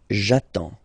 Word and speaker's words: attends: J'attends. Okay? You get D and S. Well, basically you don't pronounce them. Okay? And then you get only the sound attends. Nasal here. En. J'attends.